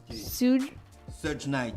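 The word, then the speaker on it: Suge Knight: l'autre en fait ça pour la prononciation de son nom se night se night celui qui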